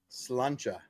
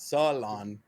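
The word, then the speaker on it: Sláinte: salud, Gaelic, slancha, cilantro, slancha. cilantro, There's not a syllable in between the S and the L.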